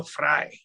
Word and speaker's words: Fray: always trips people up it's actually pronounced fry but I don't really give